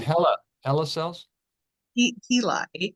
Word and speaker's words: HeLa: I want to say okay and they're called Hela hel cells he hea e l a oh that's how you pronounce it okay today is the 16 24